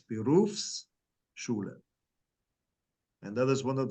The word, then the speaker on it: Berufsschule: then it turns into Berufsschule. And you have to pronounce the S to make sure that people know that it's two words, Berufsschule.